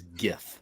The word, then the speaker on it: GIF: rob first of all the g stands for graphic people that's a hard g so it is gif all right it's not